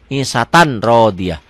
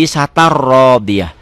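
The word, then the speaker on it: عِيشَةٍ رَاضِيَةٍ: Pemula akan baca begitu, orang bingung, orang dibacanya bener, gak ada salahnya isatan. Tapi ada ketentuan lain, ada hukum lain. Ini hukumnya idgham bila gunnah. Kenapa? Karena tanwin ketemu ro. Isatan, ya, jadi isatar rodiyah.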